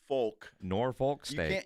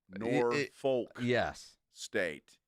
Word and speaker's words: Norfolk: I was just like Michael Vick, head coach at Norfolk State. Well, you got to say it like you're from Virginia, then it's not an issue. Right. Yeah. And that is how they say it.